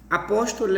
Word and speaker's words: apóstolo: Por exemplo, no apóstolo. Então, o póstolo, o pó, a gente fala de forma mais intensa.